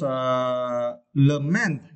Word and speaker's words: lament: And next was lament, okay. You also need to stress the second syllable, right?